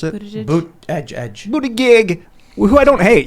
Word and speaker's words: Buttigieg: Is that how you pronounce it? Buttigieg. Boot edge.